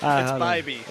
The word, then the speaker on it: Bybee: It's Bybee. It's Bybee. It's Bybee. Bybee. Like bye. Bye.